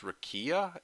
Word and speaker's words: rakija: Really, it's pronounced Rakia, but it's alcohol.